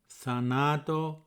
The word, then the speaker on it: θάνατον: The first thanatos is spelt with an omega at the end, and the stress is in the middle. It's in the second syllable, and the second thanatos is spelt with a ni at the end, and the stress is on the first syllable. So it's thanaton.